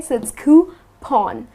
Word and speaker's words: coupon: So it rhymes with lawn or sea. Okay. So it's coupon.